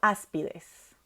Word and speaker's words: áspides: Otro ejemplo, áspides. Es un tipo de serpiente. Última, des, penúltima, pi, antepenúltima, as.